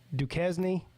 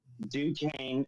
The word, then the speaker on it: Duquesne: But outside of Notre Dame, you got Duquesne, I think is the way you pronounce that.